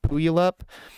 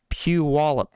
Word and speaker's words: Puyallup: pronounce this as a Washington state and it is spelled p-u-y-a-l-l-u-p Washington and I had asked because to me I guess I would pronounce that boil up and I was told is they're still trying